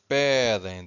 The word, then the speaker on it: pedem: So it's pedem, the stress is here, first syllable.